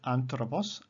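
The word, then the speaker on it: ἄνθρωπος: the law of constraint so here we have the word anthropos anthropos the syllable is on the third last syllable sorry the accent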